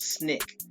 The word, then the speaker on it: SNCC: of the Student Nonviolent Coordinating Committee pronounced snick independent of any adult